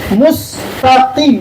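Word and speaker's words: مستقيم: Kemudian mustaqim. Ini kof. Ini kalau ini nggak boleh bacanya seperti kaf.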